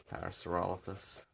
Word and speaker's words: Parasaurolophus: sound in its name I'm sure if I'm pronouncing it right Parasaurolophus yeah the drawing is coming to a close